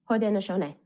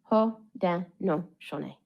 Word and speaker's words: Haudenosaunee: Here are some of them and their correct pronunciation. Toronto. Toronto. Nishnabek. Nishnabek. Haudenosaunee. Haudenosaunee.